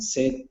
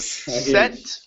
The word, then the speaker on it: sit: the Reed Forest and sit on a small rock okay good let's practice the short I so instead of set instead of set raise the tongue I sit sit there you go that's